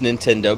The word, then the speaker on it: Nintendo: See, and here's probably why it's Nintendo, because it rhymes with "he don't know."